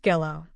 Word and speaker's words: Gillow: That's Mrs. Gillow. Rhymes with Willow.